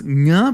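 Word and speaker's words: ṅa: the velar class it's to pronounce nga properly you have to pretend like you're saying the ng in ing like walking talking eating right occurs very rarely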